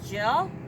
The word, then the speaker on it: Gilles: Race Canada contestants, and with us we have Gilles. Did I pronounce that Yes, right?